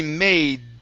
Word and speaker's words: made: this is gonna be made okay make sure to print yeah make sure to pronounce the d okay so it's mom